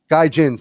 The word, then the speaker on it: Gaijins: Gaijins.